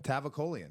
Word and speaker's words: Tavakolian: Tavakolian.